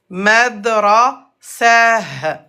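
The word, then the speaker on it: مدرسة: Et à l'arrêt, at se prononce comme ha avec soukoun. Madrasah. Madrasah.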